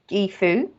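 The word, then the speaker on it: Gebo: Okay, and Gibo can actually be pronounced as Gifu.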